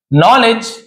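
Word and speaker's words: knowledge: दे realised उन्हें एहसास हुआ दैट कि नॉलेज यहां पर भी केस साइलेंस है। डी भी साइलेंट है। नॉलेज इज यानी है not just about reading and writing.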